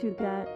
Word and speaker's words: hygge: Hygge, pronounced Hygge, is a Danish philosophy that celebrates the art of creating a warm and inviting atmosphere within your home.